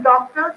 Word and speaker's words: doctor: So when I utter doctor, so I speak doctor means doc has to be spoken with force, with more clarity, and ter. So ter is not the second syllable here, which is not so much stressed.